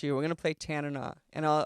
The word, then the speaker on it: Tanana: We're going to play Tanana. And I'll I'll teach you how to pronounce it, too. It's Tana. Tanana. Like Bana. Portugal. Like banana.